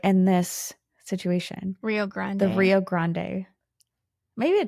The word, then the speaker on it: Rio Grande: Do you say grand or grande? Rio Grande. I thought it was Rio Grand. Grande. Do you want me to look it up? So, no, no, no. I I'm just asking because we always say grande. Like when you go to Starbucks, you're like, "Oh, grande, whatever."